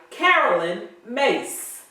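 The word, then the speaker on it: Caroline Myss: zero the first book is sacred contracts by carolyn mace that is the correct pronunciation since reverend ray left me hanging last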